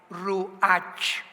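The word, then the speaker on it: ruach: r u a ch ru H que es la palabra hebrea que significa espíritu y se pronuncia la ch en el hebreo como jota como jota el espíritu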